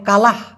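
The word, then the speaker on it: kalah: না মূলত হেরে যাওয়াকে মালয়েশিয়ান ভাষায় বলা হয় কালাহ কা লাহ একটা হঙ্গালাহ মানে হচ্ছে হার মানা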